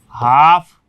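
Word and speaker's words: half: हैं ना, पाम, काम, हाफ, ठीक है ना, इस टाइप से ये जो वॉक वगैरह। तो इसमें एम से पहले एल आएगा, एम से पहले एल आएगा तो एल साइलेंट, एफ से पहले ये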